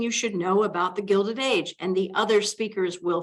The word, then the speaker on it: Gilded Age: the Gilded Age they're confused about even how to say it I'm see some people call it the Gilson age g-u-i-l-t I'm guilty of eating cake last night for dessert some people call it the Gilda g-u-i-l I belong to an